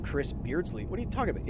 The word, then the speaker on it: Beardsley: Also, I usually have to pronounce it out for other people, said Chris Beardsley. What are you talking about? It's literally spelled Beards, L-E-Y.